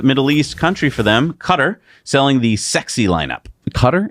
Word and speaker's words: Qatar: East Country for them cutter selling the sexy lineup cutter is it is a guitar uh I've heard it pronounced quatar sorry Qatar no cybertruck yet Tesla